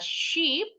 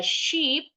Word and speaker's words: sheep: satu domba we say a Sheep i-nya panjang ya enya dua bunyinya panjang a Sheep kalau dua tetap bilangnya